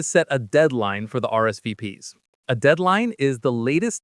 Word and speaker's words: RSVP: Even though the letters are French, in English we just say the letters.